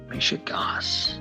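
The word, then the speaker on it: mishigas: m i s h i g a s mishas mishas I think I pronounced it right yeah yeah you did that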